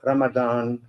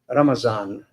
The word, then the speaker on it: Ramadan: were talking about in the Arab world we call Ramadan, but in Southeast Asia we call Ramazan, because the problem which I think the Arabs have with Z. It's funny. Come on. So we pronounce it properly, and and Mr. Alam also said that in Bangladesh we call him Ramazan, right? Ramazan. So Z is very much part of our pronunciation.